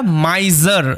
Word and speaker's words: miser: কথার অর্থ হচ্ছে কৃপণ দুটো ভাওলের মাঝখানে এস থাকলে এস এর উচ্চারণটা জ হয় তোমরা জানো অনেকবার বলেছি তো এটা মাইজার জ সাউন্ড হ্যা মাইজার মানে কি